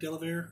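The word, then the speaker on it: Delavier: Okay, D-E-L-A-V-I-E-R, Delaver. I think that's how you pronounce it, or at least that's how I'm saying it.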